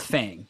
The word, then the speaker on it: Fang: whole week, we're like, Fung. They interview Altec on stage. And he's like, yeah, so Fang's been doing pretty great. And we're like, hold on. His teammates call him Fang. It's spelt Fang.